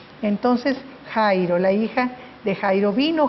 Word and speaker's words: Jairo: y lo que nosotros al leerlo en español decimos jairo verdad porque nosotros pronunciamos la jota sin el sonido de elche entonces jairo la hija de jairo